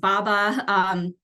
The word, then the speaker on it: BABA: It also brought about the Build America, Buy America Act requirements, which is usually abbreviated as Buy America or BABA, pronounced BABA.